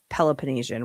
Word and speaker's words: Peloponnesian: I said Peloponnesian, which is how it's pronounced.